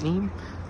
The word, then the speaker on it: Nene: Valley R some people like to call it NE some people call it NeNe um from my S it's nen from the local area is